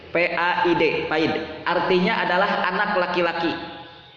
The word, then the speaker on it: paid: Yang pertama paid, bukan pahit, paid, P-A-I-D, paid.